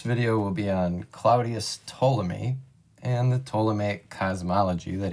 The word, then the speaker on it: Ptolemy: we're looking at claudius ptolemy a lot of people when they first see his name try to pronounce the p and we never pronounce the p when we say ptolemy he was a greek